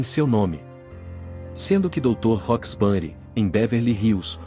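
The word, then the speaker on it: Roxbury: nome sendo que Doutor roxburi em Beverly Hills o rocks tem a mesma pronúncia de rock os outros fatos que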